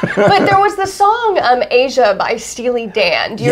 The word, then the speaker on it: Aja: aj well yeah because i don't think a lot of people realize that in asia by steely dan is spelled aj a because you look at it and looks like ajah or ajah exactly or any number